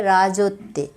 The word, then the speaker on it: রাজত্বে: এই শব্দগুলোর মাঝখানের অক্ষর ওকার সহযোগে উচ্চারিত হবে। যেমন এখানে আছে রাজত্বে, হবে রাজত্বে।